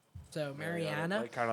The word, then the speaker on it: Mariana: Mariana snailfish. It's not Marina. So Mariana.